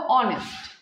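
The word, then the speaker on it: honest: সেই রকম ভাবে দেখো অনেস্ট অনেস্ট এর মধ্যে এই যে এইচ আবার ঘুমিয়ে পড়েছে আবার সাইলেন্ট হয়ে গেছে ফাস্ট যে সাউন্ডটা আসছে ও এর সাউন্ড আসছে তো এজন্য ওখানে অ্যান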